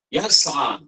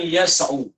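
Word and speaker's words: يسعى: Anak baca yas'a. Bukan yas'u. Dan bukan yas'i.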